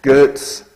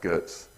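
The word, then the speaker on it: Goetz: of pronouncing correctly but I'm told he was German and I'm going to say it was Gertz okay it's spelled g-o-e-t-z I'm going to pronounce that Gertz and g-r-a-e-f-e grocery what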